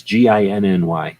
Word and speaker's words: Ginny: It's Ginny, like gin, the drink, Inny.